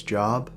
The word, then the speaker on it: Job: dead my name's job wait i thought here at city's pronounced job no it's job j-o-b job would be like j-o-b-e you know like earlobe or something i know how to